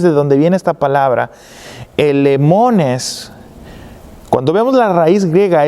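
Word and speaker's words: ἐλεήμονες: se lee, la palabra, lo voy a leer como se puede pronunciar en español, elemones, se escribe E-L-E-E-M-O-N-E-S, se escribe y se pronuncia elemones, elemones.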